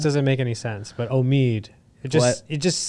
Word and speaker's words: Omid: Omid, is that how you say it?